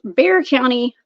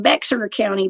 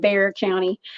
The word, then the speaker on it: Bexar County: through his Instagram page Bear County Bigfoot it looks like beer County Bigfoot y'all but it's pronounced Bear County please help me welcome